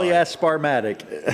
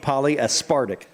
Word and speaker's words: polyaspartic: Polyasparatic. Yes. What's it called? Polyaspartic. Polyaspartic.